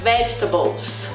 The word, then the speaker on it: vegetables: Então, por exemplo, um clássico erro do brasileiro é a palavra vegetables. vegetables, que alguns alunos têm o costume de falar vegetables. Então a gente às vezes usa a pronúncia, né, do que a gente tem em português, que seria vegetais, e a gente tenta trazer isso pro inglês. Então a pronúncia, o estresse, a sílaba mais forte da palavra, ela muda.